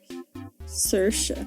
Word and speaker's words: Saoirse: No, I literally looked up how to pronounce her name. No, I'm messing up. Saoirse. It's actually Saoirse.